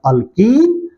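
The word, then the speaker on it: alkene: Example बनेगा हमारे पास अल्कीन, अल्कीन। देखो प्रोनाउंसिएशन कैसी है? पहले वाले की क्या थी? अल्केन, एन अल्केन। दूसरे की अल्कीन। और तीसरे की अल्काइन, आइन जा रही है, अल्काइन।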